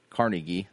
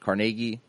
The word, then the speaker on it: Carnegie: Andrew Carnegie, depending on where you're at and how you pronounce it. Carnegie, created the simplified spelling board to revamp the English language.